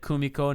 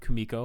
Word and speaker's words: Kumiko: got all the names they said Kumiko not Kimiko which was a good